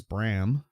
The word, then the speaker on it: Bram: surrounded by Sharon Wilson Brown it's not brown it's Bram b-r-a-m -usain Brown mosh said